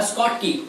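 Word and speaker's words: Schottky: Point लिख सकते हो उसमें, शॉर्ट की डिफेक्ट या स्कॉट की जैसा प्रोनाउंसिएशन।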